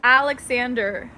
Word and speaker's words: Aleksandr: now since you're here it's pronounced in English Aleksandr obviously why are people confused